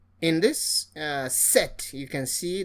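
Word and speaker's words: dix: The X is pronounced as S. In this context, instead of dicks, you say this.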